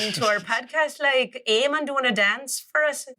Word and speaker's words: Iman: It's spelt the same way as it is in Arabic, but we say Emon.